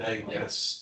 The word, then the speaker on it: Eamon: Eamon, I think that's, whoever said Eamon, that's the way it's pronounced, now that you all corrected me, thank you.